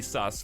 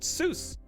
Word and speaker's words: sus: sus and will be sus forever more now you guys were trying to convince me last time you pronounced it Seuss it's sus I can't believe you confuse